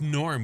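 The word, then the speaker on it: Gnorm: It's Norm with a silent G.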